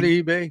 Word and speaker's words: Ibe: his name is pronounced if you look at ibe you wouldn't think it's pronounced eBay you could you could